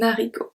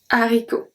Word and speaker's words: haricot: Un haricot. Un haricot. We don't say un haricot. Un haricot.